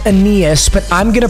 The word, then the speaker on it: Aeneas: receiver it's Amos Williams yes I know it's pronounced Aeneas but I'm gonna pronounce it anus so I really don't care what you have